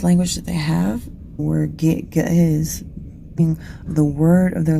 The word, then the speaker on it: Ge'ez: This language is called Ge'ez. It's spelled G-E-E-Z, but it's their oldest language.